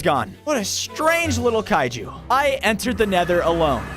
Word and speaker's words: kaiju: It's pronounced kaiju.